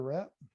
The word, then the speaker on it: wrap: We're going to do a wrap? No, we're not. Oh, you mean WRAP? WRAP. The W is, the R. No. The W is silent.